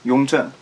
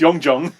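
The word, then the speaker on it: Yongzheng: Yongzhen. Okay, you have to say it loudly. Project the name. Yongzhen. That. Okay, that emperor. yeah. Who I pronounce Yongjung. Yongjung, but you got it right.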